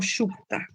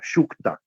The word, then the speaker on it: Sukta: ¿Cómo se escribe bien? ¿Sutra o Shukta? Shukta, Shukta, S-U-K-T-A, Shukta. Purusha Shukta.